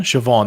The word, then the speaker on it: Siobhan: name silver silver banshee is it siobhan siobhan that's how you pronounce it yeah i know that it wasn't something cybin or something it's siobhan anyway um it's this yeah